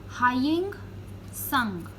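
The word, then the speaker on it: Hiuen Tsang: This is pronounced as Haiying Sung. T is silent.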